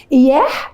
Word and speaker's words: إعح: اياح يعني القمر، اعح او الف عين حاء يعني القمر باللغه المصريه القديمه، ولكن احنا عشان في العربي مش سهل بالنسبه لنا نطق العين والحاء بننطقها اياح بدل يعني إعح.